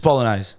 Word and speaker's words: Bolognese: much for that darling the G in Bolognese is soft yeah he kept saying Bolognese Bolognese it's just Bolognese Balinese like thank you